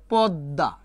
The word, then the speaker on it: পদ্মা: উচ্চারণ কি বলতে পারবেন আপনারা যদি ম ফলা শেষে থাকে ম ফলার যে পূর্বে বর্ণ থাকবে এটা দ্বিত উচ্চারিত হবে তা দ কয়বার উচ্চারিত হবে দত্ত আর মাস্ট বি ম ফলা তুলি দিয়ে আমাদের একটা চন্দ্রবিন্দু দিতে হবে কি দিতে হবে চন্দ্রবিন্দু আর এইটাই আমরা ভুল